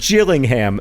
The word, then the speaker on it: Gillingham: It is pronounced Gillingham, soft G like jam, and that's important because Gillingham, hard G like girl, is a different town in England.